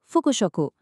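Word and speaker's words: 副食: Dibaca fukushyoku.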